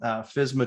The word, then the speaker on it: FSMA: in this case here this is called fisma 2020 is how they say it but really it's